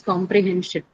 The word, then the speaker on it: comprehension: Okay, then comes comprehension. Comprehension. Second. Second last, that's hen. Right? Comprehension. So hen carries it.